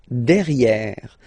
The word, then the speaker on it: derrière: So if you look carefully, you've got E here and then double R, so it will open the sound of this E, and you should pronounce it E. Okay? Derrière. Same thing here. You've got this E accent grave, E. Derrière. Okay? Don't pronounce the final E.